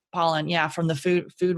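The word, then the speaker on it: Pollan: by that um Michael Poland it's Paulin or Poland I always want to say his name wrong but pollen yeah from the food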